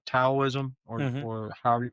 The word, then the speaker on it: Taoism: I mean, because I've always pronounced it Taoism. I think you pronounced it earlier correctly. Taoism, Hmm.